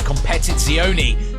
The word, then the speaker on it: Competizione: Polaris Slingshot three-wheel motorcycles an Alfa Romeo 8C competit zioni yeah got the pronunciation right a Ford F-150 a Lamborghini Aventador